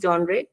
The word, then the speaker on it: genre: genre blending we can call it the right pronunciation is genre stranger things is a genre bending television show